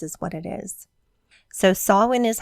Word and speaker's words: Samhain: the Harvest celebrations is what it is so sawin is how you pronounce it it is spell um it looks